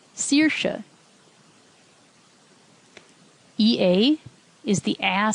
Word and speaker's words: Saoirse: AOI also gets pronounced E, as in E or Saoirse.